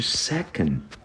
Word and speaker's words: second: varia de que de second Tá bom então olha só no final de não é pronunciado tá você só dá um bloqueiozinho ó secn fala essa sílaba mais tônica então é secon o 3 por exemplo